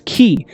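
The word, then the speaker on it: χ: letter of the uh ancient Greek alphabet pronounced as as key and it literally means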